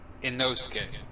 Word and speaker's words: Inosuke: Inosuke. Hey, look You at were me. close to pronounce.